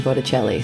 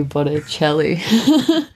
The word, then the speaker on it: Botticelli: my instagram is Botticelli so like it's not my last name you know the artist Sandra Bocelli and it rhymes with my first name so I was like Botticelli